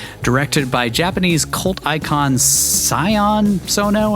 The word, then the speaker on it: Sion Sono: Directed by Japanese cult icon Sion Sono, I think is how you say it. Sion, S-I-O-N. Sion Sono.